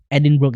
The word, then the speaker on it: Edinburgh: Oh bacanya itu Edinburgh gitu ya? Edinburgh itu.